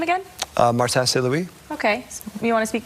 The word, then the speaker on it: Martin Saint-Louis: Martin Saint-Louis.